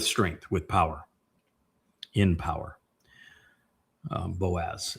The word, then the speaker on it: Boaz: with power in power boaz. It's actually ba or baos would be the uh the proper pronunciation if you look at the yeah the component parts.